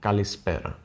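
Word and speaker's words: καλησπέρα: Then you say for afternoon, kalispera, which literally means good afternoon, or good after the noon, let's say.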